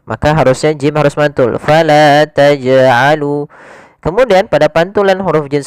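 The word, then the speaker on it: فلا تجعلوا: pantulan huruf Jin sendiri jangan sampai tambahan ada alifnya maaf tambahan Hamzah yang disukunkan misalkan Fala tajalu tajalu ini tambahan Hamzah harusnya tidak ditambah dengan Hamzah hanya eh memantul saja Fala tajalu Taj Taj ya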